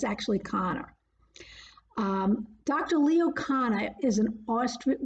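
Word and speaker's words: Kanner: leo connor and connor is spelt k-a-n-n-e-r but is pronounced conor um a lot of people want us to call it canner but it's actually connor um dr leo connor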